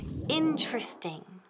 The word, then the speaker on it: interesting: Interesting. Repeat. Interesting. Nunca decimos interesting, por favor, please, no. Interesting, eso es típico de Spanish, no. So, interesting, ¿quedan en qué? Tres sílabas. Interesting.